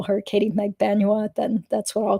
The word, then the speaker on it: Magbanua: keep remembering okay it's you have to pronounce it megba Nua so yeah uh okay